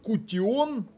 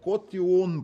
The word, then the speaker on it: Kootion: диск це в нас cion ну по-німецьки читається cion по англійськи Ion ось такий це в